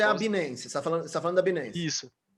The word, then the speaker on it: Binance: Na verdade, a pronúncia certa é Binance, mas eu fico falando Binance.